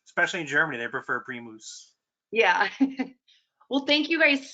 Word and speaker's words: Primus: badami mom what's that I've been saying the product name wrong yes so the Germans in Germany it's called pre mousse Premal okay I call it Primus because I'm American and lazy and that's what